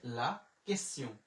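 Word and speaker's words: la question: এরপরে এল আ লা, কিউ এ তে উচ্চারণ হয় হচ্ছে ক। ও এস আমরা পাইলাম হচ্ছে কেস। তে ই ও এন হচ্ছে সিউ, তাহলে লা কেসিউ মানে প্রশ্ন।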